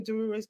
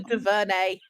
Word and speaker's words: DuVernay: One of the things that I'm really excited about is Array Ava DeRuiz. I can never say her name, it's so embarrassing. Ava DuVernay.